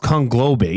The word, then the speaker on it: conglobate: It's pronounced conglobate.